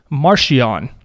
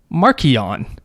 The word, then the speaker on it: Marchion: person reading it says uh this guy's name martian which is how i would have pronounced it that's that would have been my guess the author in an interview said marchionne oh so it's like which one is right